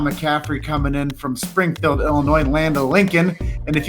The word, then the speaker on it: Illinois: Shah McCaffrey coming in from Springfield Illinois Land of Lincoln and if you guys didn't know that is the capital city of Illinois and if you say it wrong it's Illinois's that's right but you but you're just north of st.